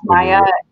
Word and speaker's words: Mia: It's Maya, M-I-A, or it's pronounced. Is it pronounced Maya? Maya. Y-A. Maya, but it's spelled M-I-A. Yep.